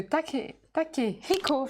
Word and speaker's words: Takehiko: Donc c'est un film qui est de Takehiko, je le prononce bien, sinon je vais me faire taper sur les doigts. À prononcer le H.